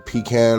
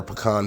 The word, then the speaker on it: pecan: Today we're going to be making pecan or pecan pie, however you want to pronounce it.